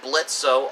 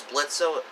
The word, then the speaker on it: Blitzo: still illiterate and calls blitzo as spelled m because the O is silent that's why much to